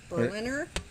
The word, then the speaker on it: Berliner: of german-born emile burlinger berliner spelled like berlin but with an er on there and he unveiled